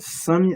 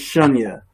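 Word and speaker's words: शून्य: Is it Sunya? Am I saying it wrong? It's Shunya.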